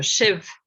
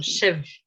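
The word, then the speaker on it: sibh: So Shiv, PH in Gaelic is pronounced as V quite often. So, but well, depends on where it is, but BH is V. So that's something that's worth remembering. So Shiv, Shiv, Shiv.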